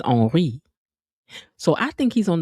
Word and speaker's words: Henri: Because Henry is spelled the same in French, but it's Henri.